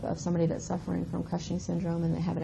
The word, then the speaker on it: Cushing's: So if you're excreting too much cortisol, you have something called Cushing's syndrome. I always want to throw an R in there and say Cushing's, but Cushing's syndrome, I said it right.